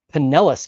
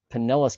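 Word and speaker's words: Pinellas: Penelis County. Okay. Penllis County, Florida. What do we got? It's right here. Right. Is that how you say it? Penllis County.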